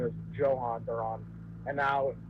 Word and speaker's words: Duran: Yeah, it was Johan Duran, and then we had all these Duran jokes, and then it was actually, no, it's Duran, and also his first name is Johan Duran, and now it's Ariz,